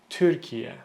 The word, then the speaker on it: Türkiye: So I hear a lot of people pronounce this as Türkiye or Türkiye. The correct pronunciation is Türkiye. Türkiye. Türkiye. Slowly. Türkiye. Türkiye. Keep it sharp, keep it short. Don't stretch it out. Türkiye.